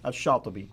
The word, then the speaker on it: al-Shatibi: Now, how would you pronounce his name? Shatibi. Shatibi. Let's make sure you get it correct. Otherwise, I'll desecrate it with my American English, my American Arabic.